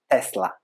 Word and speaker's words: Tesla: it is the pronunciation nikola tesla was born in croatia i grew up there so we are point on that it's tesla all right let's continue with